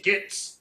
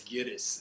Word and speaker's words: Gittes: But like he'll purposely mispronounce his name, Mr. Gitz, Yeah. Mr. Gitz. You know what I mean? It's like, oh, it's Gittes, and then you know what I mean.